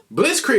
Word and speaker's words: Blitzkrieg: We pronounce it Blitz Creek.